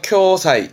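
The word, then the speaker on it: 共催: 이 공자 발음 조심하세요. 발음은 쿄입니다. 그래서 쿄사이, 쿄사이.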